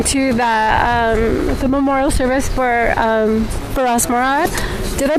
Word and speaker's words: Feras Morad: We are going to the memorial service for Feras Morad. Did I pronounce his name right? Feras Morad?